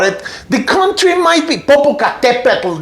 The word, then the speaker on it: Popocatépetl: The country might be Popocatépetl. That's the way you have to pronounce it. Popocatépetl is not hard, right?